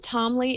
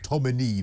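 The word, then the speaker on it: Tominey: And is it Camilla Tomley? Am I pronouncing her name right? The Telegraph? Tomley, Telegraph? Tomini, though, N-E-Y, Tomini.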